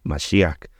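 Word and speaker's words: משיח: la palabra ungido aquí en el hebreo es masia masia con sh masiak la pronunciación es un poco compleja este ungido es masia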